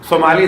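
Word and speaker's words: ثمالی: میں اکثر امام کی ایک دعا کا تذکرہ کرتا ہوں, دعائے ابو حمزہ یہ سمالی یا سمالی زیادہ بہتر ہے تلفظ.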